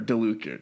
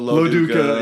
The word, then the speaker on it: Lo Duca: using because of course Joe laduca or DeLuca yeah Joe DeLuca DeLuca lo Duca because they swapped it in evil dead so I us get his name wrong Joe lo Duca um